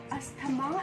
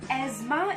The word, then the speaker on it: asthma: Asthma is an incorrect pronunciation. The correct pronunciation is asthma. Yes, asthma is the right pronunciation and not asthma.